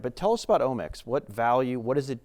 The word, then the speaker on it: Omics: I did want to talk about Omics.